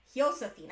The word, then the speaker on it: Josefina: so we'll be covering Josefina. I'm going to try to pronounce her name correctly, because the Spanish, the J is pronounced as an H.